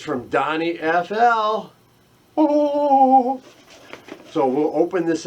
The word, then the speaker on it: DonnyFL: I say DonnyFL, I don't know why, it's DonnyFL, but for some reason, for 5 years, I've always called him DonnyFL. I don't know why, but it rhymes with fly.